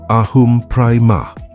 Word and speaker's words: aham prema: The phrase is aham prema, pronounced ahum prema.